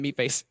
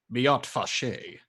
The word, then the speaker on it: Miat Fache: Still looking at Meatface. There's no fault with speaking the truth. But I must say, if we're going to get along, you must learn to pronounce my name correctly. It's Miat Fache.